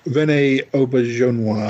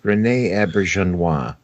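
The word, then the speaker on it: René Auberjonois: We've mentioned his name before, and I can never pronounce it. Rene Auberjonois. Oh, dear Lord! Why can't we ever remember how to pronounce this actor's name? Rene Auberjonois.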